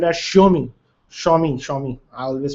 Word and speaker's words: Xiaomi: this zomi xiaomi xiaomi it's spelled as xiaomi shomi phones as of now